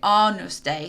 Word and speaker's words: Agnus Dei: Now this is spelled Agnus Dei, but you pronounce it Agnus Dei.